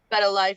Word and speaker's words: BettaLife: So I see BettaLife Entertainment or BettaLife. How do you Yeah, pronounce that? BettaLife. You got it right.